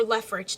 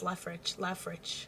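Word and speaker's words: Leofric: it's either him or Lefrich dying. And I don't want Lefrich to die. I think that's how you pronounce his name. I kept on saying Lefric, but I think it's pronounced Lefrich.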